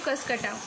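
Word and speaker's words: Cuscuta: ये प्लांट है जिसको हम कहते हैं कसकटा। इसका प्रोनाउंसिएशन बहुत लोग बहुत कुछ और भी कहते हैं, कसकुटा या सॉरी वेट अ सेकेंड, ठीक है।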